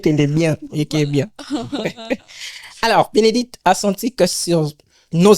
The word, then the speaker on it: Bénédicte: vais panz vraiment il s'agit comme ça de Benedict c'est ça oui oui en fait tu es la première personne de bien prononcer mon nom oui oui il y a